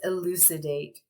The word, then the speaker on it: elucidate: word is elucidate elucidate elucidate four syllables we could talk a lot about the phonetic structure of that word the c representing this sound because it's followed by an i um we have a long a in that last syllable because that's silent e on the end um we could analyze